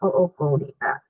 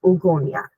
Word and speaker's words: oogonia: So during fetal development, she does start off with these stem cells called the oogonia or oogonia, whichever way you want to pronounce it.